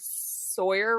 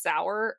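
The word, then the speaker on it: Sauer: like even when it's I've said Sig Sawyer wrong forever and it's sour see like I'm sorry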